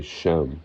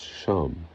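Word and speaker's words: שם: So, for example, people will say Shem, where I would say it's Sham, Ham.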